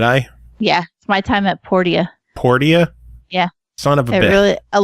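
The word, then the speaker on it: Portia: yeah my time at por dia por dia yeah really a lot of people have been pretty like everybody I've heard pronounced egos my time at Porsche and they're like no it's poor dia well damn which is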